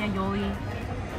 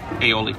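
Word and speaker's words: aioli: cheeseburger with pepper jack Chili Peppers arugula spicy aoli that's how you say it aoli aoli served with crinkle cut fries so smells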